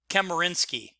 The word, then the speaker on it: Chemerinsky: It'll be Justice John Marshall and Professor Edwin I'll say it right, Chemerinsky.